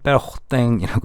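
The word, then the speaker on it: Pérotin: 둘 다 프랑스를 기반으로 하고 있기 때문에 페로탱이라고 읽으시면 되고요. 레오낭 이렇게 읽으시면 됩니다.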